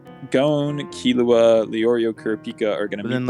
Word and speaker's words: Killua: I am saying Killua. It's not Killua. It's the difference of emphasis there. Emphasis. Right. I'm putting the emphasis on the wrong syllable.